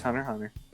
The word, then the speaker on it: Hunter x Hunter: I think the X should still be pronounced. No, it's Hunter x Hunter.